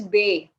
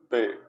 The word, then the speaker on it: B: So it is Beh. Okay, B-E-H, Beh. Can you repeat after me? Bay.